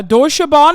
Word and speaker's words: Deutsche Bahn: Deutsche Bahn, right? Did I say it right? They are doing a mega strike, yeah. Deutsche Bahn is doing the mega strike.